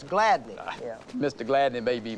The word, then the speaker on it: Gladney: Mr. Gladys Doris. I believe he pronounces it Doris Gladney.